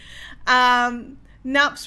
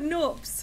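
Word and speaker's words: nupps: Nups rhymes with cups. Oh, I'm sorry. I've always called it noops.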